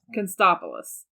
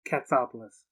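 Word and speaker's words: Katsopolis: spell uncle jesse's last name do you remember constopolis i watched fuller house k-a-n-s-t-o-p-l-u-s all right i'm gonna say the name because i think you said it wrong okay catapults uncle jessie uncle jesse catopoulos you get one more triangle pass pass yeah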